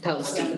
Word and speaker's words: Palestine: How do they pronounce it? Palestine, yeah. I always have to correct myself.